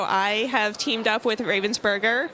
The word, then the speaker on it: Ravensburger: have teamed up with ravensberger or Robin's burger I need to start saying it the correct way yeah the German pronunciation I guess I mean